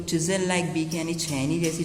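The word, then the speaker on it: chisel: जो प्रोनाउंसिएशन है वो है चिज़ल, क्या है, चिज़ल।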